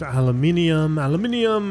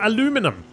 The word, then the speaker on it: aluminium: It's going to cost me some adhesive, aluminium, and steel. Oh, there we go. Nice. Can repair it. I should repair this, so I need some more aluminium or aluminum. Aluminum, as the Americans say.